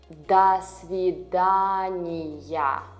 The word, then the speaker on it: до свидания: A common formal way is до свидания. You read it as one word.